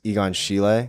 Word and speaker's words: Egon Schiele: I don't know how to pronounce it. Yeah, I think it's Egon Schiele.